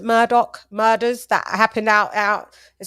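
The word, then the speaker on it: Murdaugh: They pronounce it Murdoch murders that happened out in South Carolina with the solicitor.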